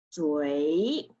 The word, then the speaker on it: 嘴: So will be 追, 嘴, 嘴.